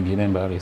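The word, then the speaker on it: Guillain-Barré: On va s'accentuer sur le guilin bar. J'espère déjà que je prononce bien le nom. Oui, bien sûr. Guilen Baré, c'est ça.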